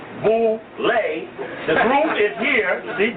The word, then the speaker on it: Boule: known as Boule, pronounced Boule.